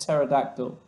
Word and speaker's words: pterodactyl: I think the P is silent, just pterodactyl.